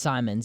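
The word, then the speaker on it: Simons: year so I think I think Simon's is how you pronounce it actually it's Simon's yes yes so I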